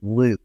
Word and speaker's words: LIWC: And I know it doesn't appear to be pronounced this way, but we call this LIWC Luke. It's the Luke program.